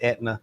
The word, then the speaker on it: Aetna: It's spelled Aetna, but it's Aetna, the Aetna insurance company.